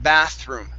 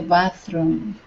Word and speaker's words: bathroom: almost you're getting closer so here you're saying bathroom okay using a hard r okay force your tongue down so your tongue does not hit the top of your mouth bathr room bathroom bathroom